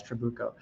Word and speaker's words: Trabuco: another troubaco or chewbacc we got the official pronunciation guys trabuco in the pipeline and is the tongue going